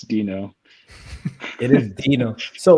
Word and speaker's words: Deno: 2018 was calling it denno and then i think somebody convinced him it should be dino because it's like a little dinosaur guy oh and so oh yeah so the official pronunciation is dino okay so the spelling